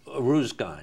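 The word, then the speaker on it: Uruzgan: so you're sent to uh how do you pronounce the name of the province you were in uh arus gan arus gan perfect arus Gan well you said it and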